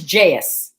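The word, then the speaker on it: jayus: of time already the word for today is jais jais i don't know how else you'd pronounce it it's j-a-y-u-s it's an indonesian word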